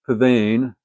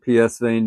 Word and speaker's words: Psvane: that I've heard it it should be pronounced Pavan but this looks like PS vein to me but the VIN reached